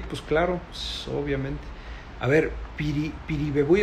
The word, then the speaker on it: Piribebuy: A ver, Piribebuy es una ciudad de Paraguay, y lo pronunciaste bien porque está en el idioma guaraní.